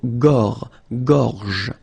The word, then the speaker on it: gorge: Okay, remember when you've got this combination G and O, you get the sound go, go. Okay, so gorge. And then G and E gives J.